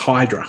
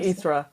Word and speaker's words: Hydra: I'm assuming uh the island is not U pronounced Hydra which is how I would pronounce it no that's exactly what I probably something or something I researched that more like erra so yes cuz I absolutely would have I